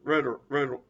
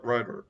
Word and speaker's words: Ritter: such as McGregor and Scott Riddle too. Ritter. I'm sorry, I mispronounced his name, but the Ritter, Scott Ritter.